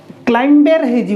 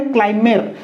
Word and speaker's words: climber: हो सेमिति एठी बी को जदि पढ़ा CLIMBER क्लाइंबर हो बी को पढ़ले किंतु बी को साइलेंट हुए क्लाइमेर सेमती PLUMBER ताको जदि पढ़ा प्लम्बर हो जदि